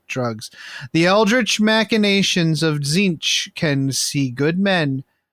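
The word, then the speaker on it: Tzeentch: can see Good Men do you ever have anybody in your play group that called that pronounces it tazinch no I think we did for a little while it drove me nuts anyways zinch can see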